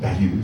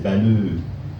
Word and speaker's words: Baleux: Je m'appelle pas Bailleux. Ça fait des années que j'explique mon nom. J'ai dit c'est pas bailleux, c'est Baleux.